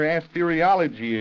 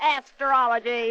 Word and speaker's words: astrology: interesting to talk about I like that their asteriology of yours is forward Eli how many times have I got to tell you that it's pronounced astrology I think Webster says it's astrology patients well